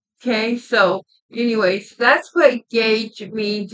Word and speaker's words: Guage: And yeah, so this is Guage. Yeah, and it's spelled G-A-U-G-E, Guage.